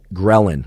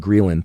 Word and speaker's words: ghrelin: in your body called ghrelin sometimes actually called greylin thanks for all of you grill anistas or grelinistas that corrected my pronunciation it's both ghrelin or grill and either one works ghrelin makes you hungry